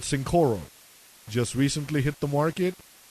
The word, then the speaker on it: Cincoro: great tequila it's by michael jordan it's called cincoro just recently hit the market and it's spelt c-i-n-c-o-r-o cincoro sin means five which means they have